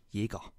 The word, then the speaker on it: Jäger: Diese Leute sprechen dann einen Soziolekt, denn die korrekte deutsche Aussprache ist Jäger. Das Ä wird wie ein verdammtes E gesprochen.